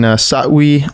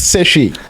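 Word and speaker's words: Sefwi: And were you born and raised in Satwi, Bekwai? Yeah, you try. Did I say it right? It's Seshi. Seshi Bekwai.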